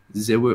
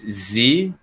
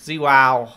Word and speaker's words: ZywOo: and I was like, ZywOo. I'm like, oh, I get it. That makes total sense. Like how you would say that in French. Well, it's ZywOo.